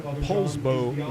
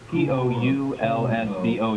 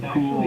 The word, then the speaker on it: Poulsbo: It's called, it's spelled like Poulsbo. You want to say Pool or Poulsbo. But it's actually a deformation of the original name that Norwegian